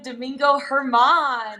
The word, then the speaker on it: Domingo Germán: Jared, how do I pronounce his name again? Domingo Germán.